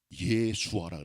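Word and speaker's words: ישוע: 그 뜻입니다.이 예수란 이름은 히브리어에서는 예수아라 그래. 예수아 여호수아랑 같은 동이 옵니다.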